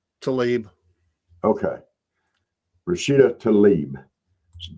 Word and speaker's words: Tlaib: It's off Fox, but the squad member Rashida Tlaib, however you say her name, is it Tlaib? Tlaib.